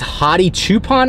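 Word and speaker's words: Hadi Choopan: what his name is kind of sounds like honey but it's hottie coupon I believe that's how you say it and he worked out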